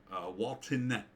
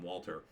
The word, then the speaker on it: Walton: Walton Goggins, I always say his name wrong. I always want to call him Walter.